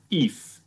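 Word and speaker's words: Eiffe: her name is aziza if and the if is spelled e-i-f-f-e and she told me it rhymes with beef so good hopefully seems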